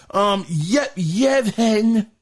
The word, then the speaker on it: Yevhen: Yevhen is spelled Y-E-V-H-E-N, Yevhen.